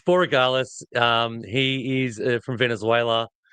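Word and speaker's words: Borregales: And uh this this guy's last name I I always mispronounce it as well. So I'm going to throw that to you. It's Boralis.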